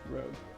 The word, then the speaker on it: Rogue: She's my favorite X-Man character is Rouge. Rogue. Rogue, that's it.